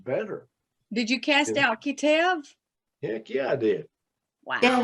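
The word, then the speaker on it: qeteb: yeah q-e-t-e-b yeah and it's pronounced k-e-h-t-e-b cut him all right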